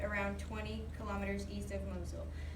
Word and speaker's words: Mosul: camps are located around 20 kilometers east of Mosul Mosel you said it right and then this is